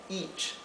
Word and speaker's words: each: regla nuevamente each verdad each es una la e con la a se pronuncia I una I acentuada vamos a ver false